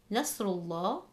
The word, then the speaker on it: Nasrullah: For the third word, Nasrullah, there is a Dhamma before the word Allah, which means the Lam will be read heavy.